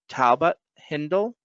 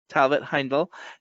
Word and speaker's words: Talbot-Heindl: on Colfax and today I'm here with Talbott Hindle did I pronounce that correctly Talbot Heindel and they/them pronouns and you are the creator